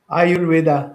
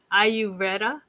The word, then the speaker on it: Ayurveda: Ayurveda. Ayur. Practitioner. Ayurveda.